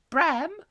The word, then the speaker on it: Bram: bram that comes to bram yes it rhymes with pram well he'd be in